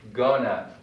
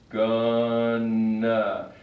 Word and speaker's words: going to: Most English speakers say gonna. They combine these 2 words and they say gonna.